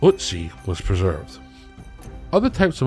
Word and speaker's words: Ötzi: This is how the most famous ice mummy Ötzi (Pronounced Oot-Zee), was preserved.